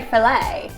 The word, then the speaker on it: fillet: Or do you say I'm going to fillet it? I think they would say filet.